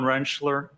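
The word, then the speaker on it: Rentschler: Could you please state your name for the record and spell it? Dr. Wrenchler.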